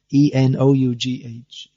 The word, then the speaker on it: enough: And then E-N-O-U-G-H, enough. So it's not cough, it's not off, it's uff. The O-U-G-H becomes uff, and then S-L-O-U-G-H becomes slough.